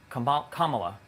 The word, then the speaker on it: Kamala: If Kamala wins, Kamala or Kamala? Kamala.